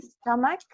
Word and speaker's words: stomach: Entonces, sí, if you say I have stomach, así se lee stomach, with CH, we pronounce K.